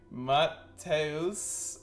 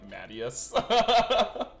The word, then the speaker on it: Mateus: My full name is Mateus. Mateus? I'm assuming the Americanized pronunciation would be like Mattias.